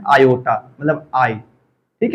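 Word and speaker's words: iota: यानी और इसको हम लोग प्रोनाउंसिएशन कैसे करते हैं, आयोटा। क्या प्रोनाउंसिएशन करते हैं, आयोटा प्रोनाउंसिएशन करते हैं।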